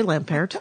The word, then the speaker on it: Lampaert: Well, you see, I'm going to pronounce it without the T because it sounds more French. It does. But, you could pronounce it with a T. You could say Lampaert.